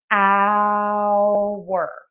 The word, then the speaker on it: hour: pronounce those the same hour. hour. We don't say the H on the time hour.